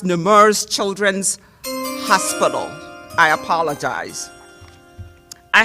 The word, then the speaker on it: Nemours: Please forgive me, it's pronounced Nemours Children's Hospital.